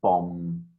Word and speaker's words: bomb: other yeah that uh that final b is silent isn't it just bomb just you just close them out bomb bomb or other act okay